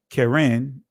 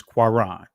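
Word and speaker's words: קרן: see here it says, because it's the Israeli pronunciation of it, Karen. Right. This is the Israeli pronunciation of it. Right. This is the Segal, not getting into the dots and all that. But we see when we go to the primitive root, pronunciation is quaran.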